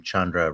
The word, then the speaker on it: Chandra: It's like rhymes with abode and the last name Chandra rhymes with tundra. So, Chandra Chundra.